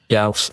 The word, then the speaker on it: GAoS: Of course, you have a lot of work as a CEO of GAoS. Is this how you pronounce the acronym? GAoS, exactly. I mean, You mean the you're the Gauss?